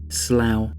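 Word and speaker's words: slough: asked me to say the word slow so Donnie slow it's spelled s l o u g h goodbye for this week's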